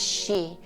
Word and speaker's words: xi: will be making is spelled XI but it's pronounced she s he e e